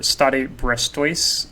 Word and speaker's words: Stade Brestois: He is an English right wing currently playing for Stade Brestois, I believe is how you pronounce the name of that club.